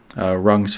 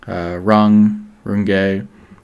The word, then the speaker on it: Runge: And then I wanted to finish off with something called Runge's phenomenon. Runge, I forget how to pronounce it.